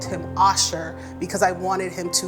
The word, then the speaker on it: Asher: So his name is spelled Asher, A-S-H-E-R, but I called him Asher because I wanted him to learn how to